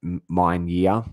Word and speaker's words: Mien: On an unspecified day in April 1970, Mr. Mien, yes, pronounced Mien-Yia, was walking in a wooded area north of National Highway 1 in Svayring Province.